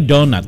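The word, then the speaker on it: doughnut: Bacanya donat. Kenapa dibaca donat? Karena huruf G ada huruf G dengan H itu dalam bahasa Inggris tidak dibaca. Jadi bacanya donat.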